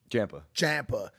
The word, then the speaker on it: Ciampa: The Mike's wife and how do you say his name, man? Ciampa.